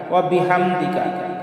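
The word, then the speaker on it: وَبِحَمْدِكَ: আমরা অনেকেই পাঠ করি ওয়া বিহামদিকা ওয়া বিহামদিকা, আসলে হামদিকা হবে না, হাম। এখানেও বড় হা, হলকের মধ্যখান থেকে একটু চাপ দিয়ে আমরা উচ্চারণ করব ওয়া বিহামদিকা ওয়া বিহামদিকা।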